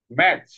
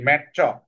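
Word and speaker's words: match: এখানে টিটা আসলে সাইলেন্ট হয়ে গেছে। তারপরে কি আছে এখানে দেখো তো, ম আ। এখন কি হলো? ম আ চ, কি হয়? ম্যাচ, ম্যাচ। ঠিক আছে? তো এইটাকে বলার দরকার নাই ম্যাট চ, তাই না?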